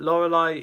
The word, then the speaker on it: Lorelei: 18th place we have Lorelei, the first Elite Four member that most people were gone against. Not my first, the first one I went against was Aaron. But Lorelei is the proper original one of the original